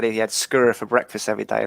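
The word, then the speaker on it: skyr: didn't stop running and he said he had scurrier for breakfast every day like s k y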